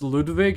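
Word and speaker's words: Ludwig: Did you guys see that Ludvig was in um I feel like I'm the only person that pronounces Ludvig as if he is German.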